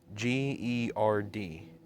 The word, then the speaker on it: GERD: what's it called the disease is called bird it's spelled g-e-r-d gerd and that's why it makes his voice